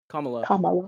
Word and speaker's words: Kamala: Um, and similarly, uh, is it Kamla or Kamala? Is it Kamla or Kamala? I forget. There's like a right way to pronounce it. Kamala.